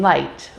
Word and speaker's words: light: the end of words g g is silent when we see it come before m or n in the same syllable for example phlegm gnome or foreign as well as in the combination of gh as in light or high h h